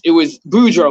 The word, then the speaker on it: Boudreaux: I'm riding with Josh, Bordeaux, and Kelly, and it was Boudreaux. My bad, I pronounce it wrong all the time.